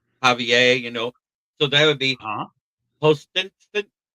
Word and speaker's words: Javier: It would be, which means the H is silent. Right. But the J makes an H noise in Javier, so that would be Postinston, something like that.